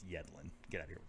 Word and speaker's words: Yedlin: Yedlin, according to some announcers over in the English Premier League, which is really grates on my nerves to hear it pronounced Yedlin, because it's Yedlin.